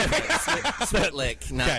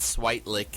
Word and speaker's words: Switlick: Switlick, not Switelick or Yeah.